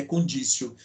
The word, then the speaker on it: conditio: conditio sine qua non eu escrevo conditio mas a pronúncia é condicio não ter lisa da